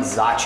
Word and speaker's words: Zocchi: I'm here with the legendary Brazilian Jiu-Jitsu coach, Zocchi. Am I pronouncing it correct? Yes, Zocchi is right.